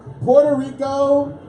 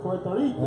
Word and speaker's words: Puerto Rico: In 1932, the United States Congress changes the name of Puerto Rico to Puerto Rico.